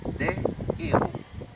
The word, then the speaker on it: héros: On n'a qu'à dire des héros. On prononce héros normalement, on n'a pas à faire sortir le H.